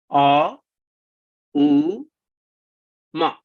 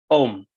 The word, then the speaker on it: Om: Om is actually three syllables. A, U, Ma. But the rule of Sanskrit grammar is when you have A plus U, they become O. Okay. So Aum, the three syllables have become Om, a single syllable.